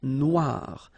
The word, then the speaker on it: Noire: Then here, la mer Noire. Same thing here that we had previously. Final not pronounced, okay? And then OI, remember, wa, noir, noir.